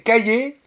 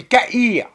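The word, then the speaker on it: Cahir: C'est le Caillé, enfin, c'est Caïr. Ça s'écrit comme un cahier, mais sans le E. Donc, Caïr. Comme un cahier, mais sans le E, ça fait C-A-H-I-R.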